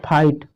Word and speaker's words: fight: अगला एग्जाम्पल और देख लेते हैं, आपने बहुत लड़ाई की होगी, FIGHT फाइट, इसको क्या पढ़ते हैं, फाइट। तो इसमें भी देखिए GH आया है, तो ये क्या है आपका, चुप है, साइलेंट है।